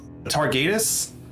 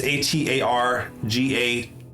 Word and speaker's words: Atargatis: They say they're from a crew called the Targatus. It's Atargatis. So You spell it one more time.